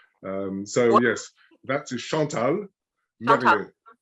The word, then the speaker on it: Marriott: So yes, that is Chantal Marriott. Say that again. Marriott. So Marriott. you've got to, in French, of course, you roll your Yes. R's, and so you've Okay. got to try and roll your R's.